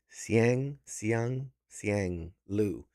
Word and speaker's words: Siang Lu: That was Siang Lu. I want to make sure I pronounce it correctly. Siang Lu.